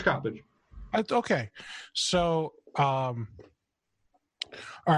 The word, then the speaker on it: Coppedge: a really dumb question I've always called you copage but somebody recently pronounced your last name copage it's copage okay so um all